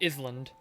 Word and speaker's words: island: run into a i still hate that there's an s in iceland or i guess it's technically pronounced island following english rules yeah i don't like